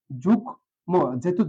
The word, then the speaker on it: যুগ্ম: একটা হসন্ত ব্যবহার করলাম যুগ মহেতু যুক্তবর্ণ যুক্তভাবে আছে এজন্য শেষটা কি হবে ওকার হবে যুগম ম এর উচ্চারণটা আছে এখানে যোগ্য হবে না এই বিষয়টা খেয়াল করতে